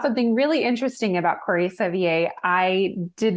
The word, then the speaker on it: Sevier: Because it's spelled like Sevier. Yes, It is Sevier, but he said he would take any pronunciation of it.